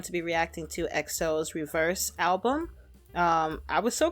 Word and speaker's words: REVERXE: Um, I'm going to be reacting to EXO's Reverse album. Um, I was so confused. I didn't know how to pronounce it at first because the X was right there.